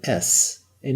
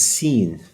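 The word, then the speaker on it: سين: Okay, now the S, that's the equivalent of the letter S in English. The name of this letter is Sin.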